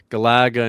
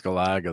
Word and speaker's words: Galaga: Galaga and Galaxian are some of my favorites.